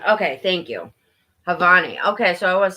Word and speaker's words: Janvi: Is the J silent? I don't know. They don't make sense to me when I try to read them. I always say it wrong. Hey, be nice. Leave her alone, Banks. Come on. Come on. Ugh, leave her alone. Come on. Stop it. The J is silent.